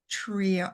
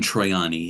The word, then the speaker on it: Troiani: the pictures that are absolutely fascinating by Don Trio, say his name, Triani. Don Troiani, yes.